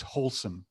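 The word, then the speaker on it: Holcim: in zurich switzerland their their name is wholesome and they're anything but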